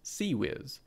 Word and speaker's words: CIWS: Modern close-in weapon systems ciws pronounced C whiz mounts the firing angles